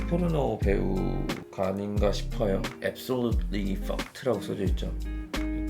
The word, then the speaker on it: FUCT: fucked, 그리고 fucked 이제 발음이 똑같기 때문에 저는 사실 요게 fucked 이름의 유래가 아닌가 싶기도 한데 제가 생각했을 땐 딱 그래요.